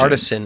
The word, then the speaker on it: artisan: Artisanal versus artesian. Artisan is pronounced Artisan.